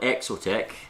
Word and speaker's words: Exotec: it's had now i'm not sure if you call it exotech there it is there or exotic you can read that you know it's supposed to be exotic but i think it's supposed to pronounce the exotec exotec carbon bottom plate